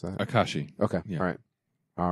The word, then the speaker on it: Akashi: Is that, I don't know how to pronounce that. Akashi.